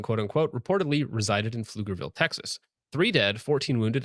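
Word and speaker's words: Pflugerville: able to pronounce Flugerville. Okay, there's a P on there for some reason. Uh Flugerville, Texas, the Sharia beach head I've been exposing for years.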